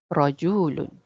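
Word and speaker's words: رَجُلٌ: And how we say a man in Arabic is you have a tanween at the end. Voila. Yeah, so it'll be rajulun. So the magic, no, that's how do you say not the magic here?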